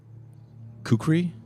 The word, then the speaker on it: kukri: Uh a jewel jeweled hilted kukri knife shaped knife blade. Kukuri, right?